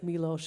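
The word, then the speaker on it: Miloš: so when you know it's like milosh when you when you see the uh s there's a little like Accent on the S that makes it a sh sound oh can you guys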